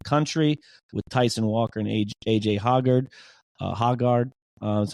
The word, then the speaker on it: A.J. Hoggard: One of the best backcourts in the country with Tyson Walker and A.J. Hoggard. That's how you pronounce it.